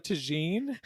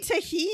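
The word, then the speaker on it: tahini: And a little bit of tagine, and then I just smashed my. You mean tahine?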